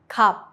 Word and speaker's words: 값: For example, 값, price. Only 비읍 is used.